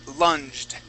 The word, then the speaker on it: lunged: uh let's go to lunged okay this is that g is going to be a j sound lunged lung good nice